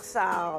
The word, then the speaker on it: Sarr: Je l'ai bien prononcé, non? Oui, vous avez bien Korsar. prononcé, oui, bien sûr, Très c'est bien, c'est Korsar. Docteur Sarr. Oui. Bon, peut-être que j'ai ajouté un peu de R en le prononçant le nom.